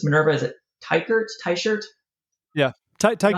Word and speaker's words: Teichert: Is it Teichert? Teichert? Yeah, You know how to Teichert say works. this? Yeah, yeah, Teichert.